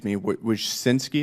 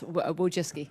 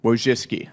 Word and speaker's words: Wojcicki: Related to this, Miss Wojcinski, is that how you pronounce it? Yes, Wojcicki. Wojcicki, okay.